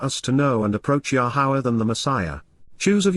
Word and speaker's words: Yahowah: appreciation and gratitude to yahwah yahwah the proper pronunciation of the name of eloah God has